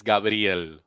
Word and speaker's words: Gabriel: Which syllable did I get wrong? Do it again. Gabriel. The brill. I'll never get that part. It's not Gabriel. It's Gabriel. Gabriel.